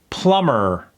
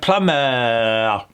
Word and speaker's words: plumber: In American English, we really eat those R's. So let's say it again and really pronounce that R. Plumber.